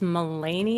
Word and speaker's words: Mulaney: Just for the record, it is Mulaney. It rhymes with Delaney.